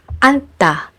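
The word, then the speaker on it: 앉다: And in the combination of these two final consonant sounds, you only need to pronounce n. Like in the word anta, which means to sit.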